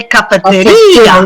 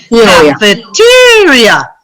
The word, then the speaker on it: cafeteria: Now listen to this next one, because you guys would say cafeteria, right? Yeah. And we say cafeteria.